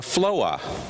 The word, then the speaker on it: floor: For example, you might say floor, F-L-O-O-R, a floor. In the South, we add a syllable to that and we call it a floa.